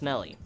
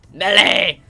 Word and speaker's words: Melee: uh pronounce the last word as Melly let me correct you right the now it's Melly a Le I'm not having anyone pronounce the name of my favorite fining game of all time me melee melee Super Smash Bros me